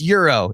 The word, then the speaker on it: Gyro: places in the city it's pronounced Euro in different parts of the country love how this podcast